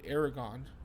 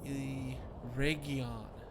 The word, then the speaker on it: Eregion: I've always called it Aragon, even though it's, you know, it's not close to that spelling, but still. But it's Eregion.